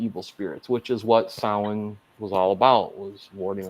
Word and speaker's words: Samhain: Sam Hain. This one had the best art because it was the creepiest looking. Basically, grandma tells her grandkids about the old Celtic festival of Samhain.